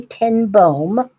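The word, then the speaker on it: ten Boom: It is the story of this woman named Corey Tenboom. It says boom, but boom is how you pronounce it in Dutch.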